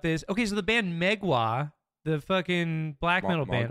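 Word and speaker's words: Mgła: Okay, so the band Megwa, the fucking black metal band, are they canceled or not?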